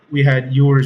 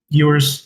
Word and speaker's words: Ewers: I mean, we had Ewers unfortunately have to go out, like I said.